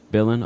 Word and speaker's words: Bill: Billen. Okay, cool. Bill is the right pronunciation. All right, cool. Glad that I could uh pronounce it properly and correctly.